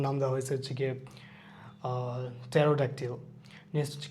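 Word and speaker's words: pterodactyl: সাম, এখানে এলটাও সাইলেন্ট থাকবে, পিটাও সাইলেন্ট থাকবে, এর আগে আমরা এটা দেখছি। সাইকোলজি। টেরোডাকটিল বলতে কি একটা প্রাচীন রেপটাইলের কথা বলা হয়েছে।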